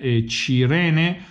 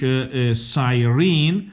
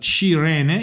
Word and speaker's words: Cirene: I'm going to use the Italian pronunciation Cirene, well, English Sirene, well, Cirene, if you want to respect the original Italian pronunciation.